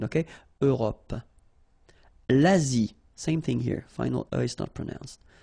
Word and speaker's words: Europe: Remember this final E. It's not really present, it only gives you the possibility to pronounce this P, PP at the end, okay? Europe.